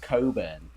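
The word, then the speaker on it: Cockburn: But I do believe this is pronounced Coburn.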